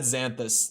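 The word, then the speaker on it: xanthous: doesn't either oh yeah xanthus it is said xanthus the written pronunciation having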